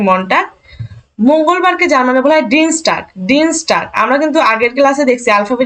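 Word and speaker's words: Dienstag: Germany বলা হয় মনটা জার্ম মানে বলা হয় ডিন স্টার্ক ডিন স্টার্ক আমরা কিন্তু আগের ক্লাসে দেখছি আলফাবেটের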